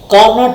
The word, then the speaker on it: Carnot: कार्नोट engine करके कहते हैं, बेसिकली इसकी प्रोनाउंसिएशन क्या है, कार्नो है।